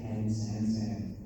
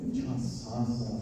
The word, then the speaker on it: Chasansa: The locals from Valley City down towards Fort Ransom, they say when this word is in signage, they pronounce it Can San San. And it just sounds funny to go Can San San. Yeah, Chasansa, it's White Birch River.